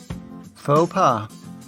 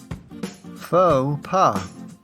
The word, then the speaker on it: faux pas: Note that even though it retains its French spelling and seems like a French word, we pronounce it in an anglicized way.